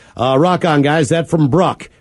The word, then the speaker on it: Bruck: That from Bruck. Pronounced like truck, but with a B.